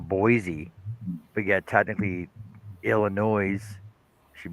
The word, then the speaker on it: Boise: Like you pronounce the E on Boise, but yet technically Illinois should be the same as that, right?